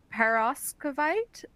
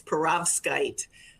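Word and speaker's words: perovskite: bottom cells of a parasite si tandem to study current matching? Again, apologies. No, I completely understand that's can be a tough word to pronounce. It's peravkite.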